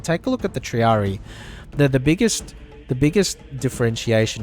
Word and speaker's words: triarii: the same role in a formation whereas the triarii yeah that yeah in the original game they pronounce it triarii but the official pronunciation is triari um so